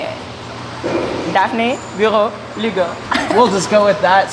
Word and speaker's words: Daphnee Bureau Lugo: Daphnee Bureau Lugo. That's how you say it. Daphnee Bureau Lugo.